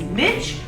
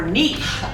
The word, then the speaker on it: niche: We're excited for this episode 3, where we're going to talk about the word I never could figure out how to say it is niche or niche.